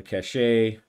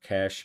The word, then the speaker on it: cache: on the upcoming missions the cachet uh or cash maybe supposed to be cash I think I pronounced it one way for a long time and then it was corrected but it's been a long time so I'll just call it cash um a cache of